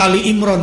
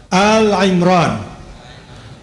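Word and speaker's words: آل عمران: kepada Ibrahim dan Imran Jadi bukan Surat Ali Imron salah sebetulnya penyebutannya Al coba Al Imran Al Imron kebanyakan bilangnya surat apa sehingga banyak anaknya namanya siapa Dia kira Ali bukan Al Imron itu pengucapan yang benar artinya apa keluarga Bukan Ali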